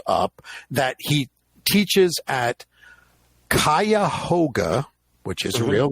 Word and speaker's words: Cuyahoga: super that comes up, that he teaches at Cuyahoga, which is a real name. Yep. State College. He repeatedly says it's Cuyahoga.